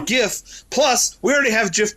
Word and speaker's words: GIF: the guy who said it's supposed to be je but the guy who did it doesn't get that Authority screw that guy I know said that's a that's a strong argument I get it but it's for graphic g g graphic it's a gif plus we already have